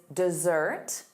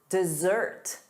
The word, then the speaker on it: dessert: And then two S's, sweets, chocolate, dessert. Dessert.